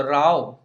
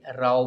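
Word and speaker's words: row: सो राव जो वर्ड है, जो रो जैसी इसकी स्पेलिंग है, सो राव का मतलब होता है फाइट, एंड जब भी इसका मतलब फाइट होता है या कॉरल करना होता है, झगड़ना होता है, तो आप उसका प्रोनाउंसिएशन भी राव बोल के करते हैं, ना कि रो।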